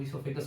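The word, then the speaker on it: oesophagus: वैसे इंग्लिश है देखो, इसोफेगस को ई से प्रोनाउंसिएशन ना करके वो से स्टार्ट कर रहे हैं। प्रोनाउंसिएशन में इसोफेगस पढ़ेंगे और लिखने के हम लोग क्या पढ़ेंगे? ओसोफेगस, ओ से स्टार्ट करेंगे।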